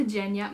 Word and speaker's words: Genya: Her name is pronounced Genya.